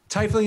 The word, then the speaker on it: tiefling: distinctly different voices okay Holly rant was in here givin you for saying Thai fling instead of tiefling Thai feeling is the correct way to say it cuz cuz if you take the word apart and you spell the word Thai like Thai fighter or like Thai food which I know how